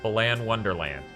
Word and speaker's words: Balan Wonderland: The reason it's a bad name is because it should be Balin Wonderland. Yeah, Balan Wonderland. So because it rhymes.